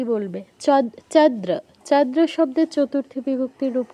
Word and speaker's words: চন্দ্রা: দ এর ফলা আকার এটার উচ্চারণ কি চন্দ্রা একদম ঠিক চন্দ্রাত দৃত বললে হবে না ঠিক আছে সুন্দর রয়েছে